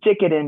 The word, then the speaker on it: Jikiden: pronounce that correctly, please? Is Jikiden Reiki, and Jikiden it's Reiki.